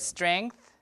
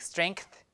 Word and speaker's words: strength: of articulation okay or in the word strength this is the real pronunciation but people would add a k people would a lot of people would add a k like strength like that because K